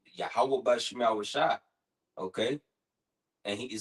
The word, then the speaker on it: Yahweh: That's how you say his name in the Paleo Hebrew, Yahweh.